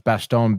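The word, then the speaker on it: Bastogne: it is B maybe it is pronounce Bastone it's Bastone b a s t o g NE e in the winter dude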